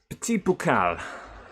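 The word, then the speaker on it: Petit Boucle: Petit Boucal. Thank you, Phil. Phil knows the stress of doing pronunciations in live, especially with a Somerset accent.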